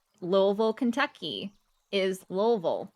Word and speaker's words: Louisville: Like, Louisville, Kentucky is Louisville, not Louisville, not Louisville, it's Louisville.